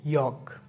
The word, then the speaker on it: yolk: সো YOLK, ইয়ক হবে না, এটা ইয়ক হবে, ইয়ক।